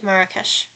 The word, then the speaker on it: Marrakesh: Okay, I'm going to look it up real quick to see how you can pronounce it. Marrakesh. Okay. So, it is Marrakesh.